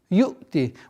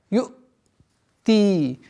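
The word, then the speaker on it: يؤتي: Ю'ти. Вот здесь произношение звука хамзы должно быть такое, у ученых есть такое понятие отдаление от ошибочного произношения. Чтобы она не перешло до звука айн. Чтобы до звука айн не дошло.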